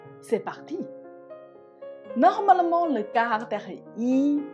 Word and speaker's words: 一: Par exemple, 一杯水 Vous voyez, dans ce mot, le caractère yi, je prononce en i. Donc, j'ai changé du premier ton en quatrième ton. Parce que le caractère juste après, bei, il prononce en premier ton.